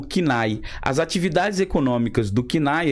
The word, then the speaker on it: CNAE: Nacional de Atividades Econômicas, o CNAE ou SENAI, como vocês queiram dizer, mas o certo, a pronúncia, pelo menos o que eu escuto aí, entre aqueles que trabalham com administração de empresa, é o CNAE.